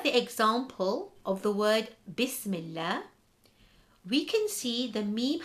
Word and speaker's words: Bismillah: We have the word Bismillah, where the Lam is read light in the word Allah.